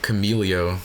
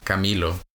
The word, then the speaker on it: Camilo: I know I got Camelio the other day so Milo's perfect. There's an extra there's the other eye is silent.